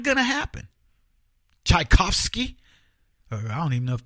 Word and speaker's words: Tchaikovsky: Try to spell Tchaikovsky. Come on. Don't do it phonetically. Don't pretend you knew the T was there. Tchaikovsky.